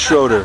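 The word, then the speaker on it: Schröder: It's pronounced Schroeder auf Deutsch. Schroeder. Yeah. Can't Schroeder. It's not Schroeder, it's not Schroeder. It's in between.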